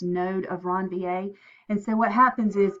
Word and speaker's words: Ranvier: called the no node of ranvier again that's pronounced node of ranvier and so what happens is everywhere that there